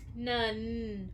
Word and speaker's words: none: hear the Oh sound nun we do hear another n nun but it sounds like the word ends because we don't hear the e at the very end so we hear the